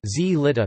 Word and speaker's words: slitta: Italian slitta, sled, spelled slitta but pronounced z litta, never with s.